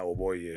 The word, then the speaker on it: Hoboyi: It's Hoboyi. Let me say it right. Hoboyi. Yarr, I could never get it right. Hoboyi. Did I say it right? Yeah, Hoboyi, yes.